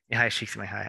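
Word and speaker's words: Mihaly Csikszentmihalyi: Oh, I don't know how to pronounce his name. Csikszentmihalyi. Mihai Csikszentmihalyi.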